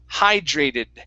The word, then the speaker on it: hydrated: word this is high hydrated hydrated hydrated hydrated okay now uh with the d and the r together you want to pronounce a j sound jur instead of it it's hydra hydrated try that hydrated hydrated